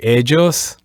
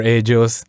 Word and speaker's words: ellos: as pronunciation goes, that every time we see double L, remember we could say ellos or ellos or hechos. In my case, I prefer ellos, as if there was a J in there, ellos or ellas.